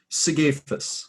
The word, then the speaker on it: Sigafus: Sigafus.